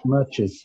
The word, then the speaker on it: matches: Matches. Okay. Matches. Yes. Yeah. Matches. Matches. And you should pronounce properly as well.